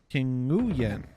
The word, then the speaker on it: Nguyen: King Yin? King Nguyen. King Nguyen. I was thinking it might be King Win, but I don't know.